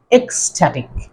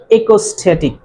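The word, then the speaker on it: ecstatic: আমরা বলতে পারি এক্সট্রাটিক এক্সট্যাটিক এক্সট্যাটিক বানানটা কি ই সি এস টি এ টি আই সি এক্সট্যাটিক নট ইকোস্টেটিক Xtec very exciting very exciting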